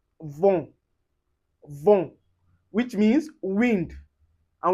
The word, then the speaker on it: vent: Anyway you see en or em, you pronounce it as on. And you can see it in word like vent.